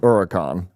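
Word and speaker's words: Huracán: correctly pronounce Huracan. Huracan. Huracan. Because the person who bought the used Audi didn't even know how to pronounce the name of the used Audi. Hurricane.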